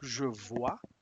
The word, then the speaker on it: vois: Vo je vois ignoro las consonantes finales.